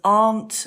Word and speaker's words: aunt: good one Gabby's car the sound of r as in Far large after that then in the unusual spelling box there's aunt and laugh and heart that is very confusing